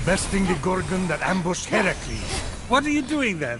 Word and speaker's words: Heracles: do doing that that thing with your voice Heracles yeah that that is how it's supposed to be pronounced seems like a lot of work but